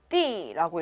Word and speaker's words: 地: 땅지자는요, 원래 땅, 바닥이라는 의미로 활용할 땐 띠라고 읽어요. 그런데 앞에 뒤에 다른 단어들이 마구마구 나와서 우리가 문장 안에서 활용을 할 때는 얘를 더라고 읽습니다.